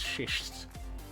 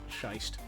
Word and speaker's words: schist: Nice is pronounced nice. Oh no, that's shist, not shiced.